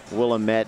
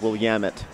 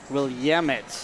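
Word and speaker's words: Willamette: I've also been corrected several times on my pronunciation it's not will AIT it's will yamit will yamit yeah that's okay I don't mind you know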